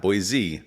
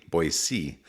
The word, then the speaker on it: Boise: Not Boise, Boise, Idaho.